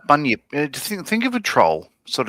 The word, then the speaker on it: bunyip: What's a bunny yip? A bunyip. Bunyip. Well, I'm pronouncing it probably wrong, but you look into Yeah, it. no, bunyip.